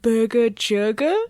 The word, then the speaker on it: Burger Jurger: My animal companion is a crow named Burger Jurger, and if you hear anyone try to tell you that it's pronounced a different way, they're wrong.